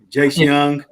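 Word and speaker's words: Jace Jung: young am I young it's pronounced like young but spelled Jung okay Jay Young Dylan dingler Carpenter recently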